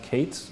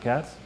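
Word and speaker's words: Katz: billionaire whose last name is spelled K-A-T-Z, but pronounced Kates, not Cats.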